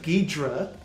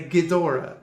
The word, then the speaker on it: Ghidorah: before anyone says anything i know that the official touhou pronunciation is king ghidra but that sounds terrible so i say ghidorah as was always the case until about 10 years ago when they suddenly insisted it's ghidra jet jaguar the problem with